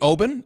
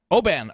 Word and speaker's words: Oban: your last name correctly Obin is that correct Oban okay Aaron open and uh